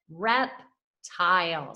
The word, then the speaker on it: reptile: And then super silent E on the end doesn't make a sound. It stays with its long vowel sound, which is that long I.